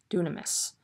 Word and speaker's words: dunamis: that is translated power i think it's pronounced dunamas dunamis um the greek word in